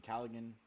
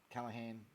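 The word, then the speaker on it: Callaghan: looking at him is Finn calligan um Callahan I keep getting that wrong pronunciation is not my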